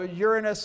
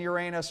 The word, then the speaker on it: Uranus: and Neptune oh shoot I pronounced it the wrong way usually I pronounced this this planet based on the maturity level of my audience so Uranus and Uranus are both acceptable but I was still